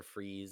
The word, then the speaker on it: Fries: It It's spelled is just like French fries. Yeah, fries. yeah. It's definitely fries.